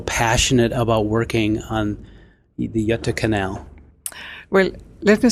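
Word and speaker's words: Göta kanal: please explain to me how do you say yata canal because i used to say gata canal before i knew how to say it in swedish how do you say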